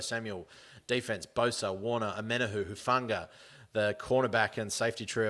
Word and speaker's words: Hufanga: Omenahu, Hufanga.